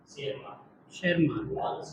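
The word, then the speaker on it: Tschermak: डी वराइस और coherence और T silent है ना, शेरमान, ठीक है।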